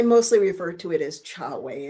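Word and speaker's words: Chahway: And I mostly refer to it as Chawei. It's like a pre-title. And the book is Chawe. Chawei is spelled C H A H W A Y.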